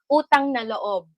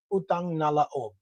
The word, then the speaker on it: utang na loob: What you Utang na loob. utang na laob Loob.